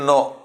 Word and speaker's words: know: now this is K you pronounce k n o w actually logically it should come like this only but teacher doesn't know how to pronounce like no the K is silent no so this kind